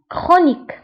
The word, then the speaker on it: chronique: فانتبهوا هنا بالنسبة للكرونيك فتكتب بالسي اش وتنطق بك chronique.